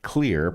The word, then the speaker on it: Xlear: It's clear that Xlear pronounced It's clear that's clear pronounced clear. This is not clear based on the fact that I'm seeing X's where you might expect C's, but nonetheless, the product is called Xlear.